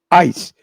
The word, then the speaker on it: ICE: de la Agencia Federal conocida como ICE AIS, se pronuncia que es inmigración y